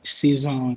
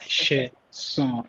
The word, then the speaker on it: Sheson: So, but everyone calls me like Sheson or Season or whatever, but it's like Sheson.